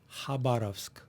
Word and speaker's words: Khabarovsk: Yeah, the name of the city in Russian language, Khabarovsk. Khabarovsk. Khabarovsk. Good job. Thank you. Thank Good you.